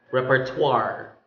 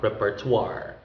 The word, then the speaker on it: repertoire: an evening reception party okay next we have repertoire repertoire it's a list or roster okay again it has french origin because of the o i pronounce this what repertoire repertoire next another one with french origin reservoir